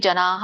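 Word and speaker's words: ಜನಾಃ: ಜನ, ಇಲ್ಲಿ ಜನಾಹ ಬರುತ್ತೆ, ಬಟ್ ಅಲ್ಲಿ ವಿಸರ್ಗ ಹಕಾರ ಅಲ್ಪವಾಗಿ ಹೇಳ್ಬೇಕು.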